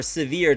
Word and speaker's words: Sivir: 80% win rate with Sivir. Or Severe, depending on how you want to pronounce it.